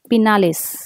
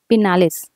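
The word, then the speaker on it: Pinales: पिनालेस कोणता पिनालेस किंवा पिनाल्स कसे करा प्रोनन्सशन तर हे लिहून घ्यायचं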